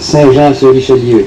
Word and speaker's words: Saint-Jean-sur-Richelieu: It's pronounced Saint-Jean-sur-Richelieu.